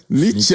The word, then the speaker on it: Nietzsche: He's I never pronounced the name correctly. Nietzsche.